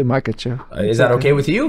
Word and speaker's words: Makhachev: How do you pronounce? I want to make sure I say your last name right. Makhachev. Makhachev. Yeah. Makhachev.